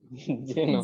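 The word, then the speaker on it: Xenon: এটা হচ্ছে এক্সিনন, উচ্চারণ কিভাবে বলেন? জেনন।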